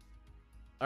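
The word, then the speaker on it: heir: here or second here it's pronounced here right I don't hear that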